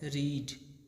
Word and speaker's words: read: तीनों का spelling same होता है, लेकिन V2 और V3 को हम पढ़ते हैं रेड, ठीक है।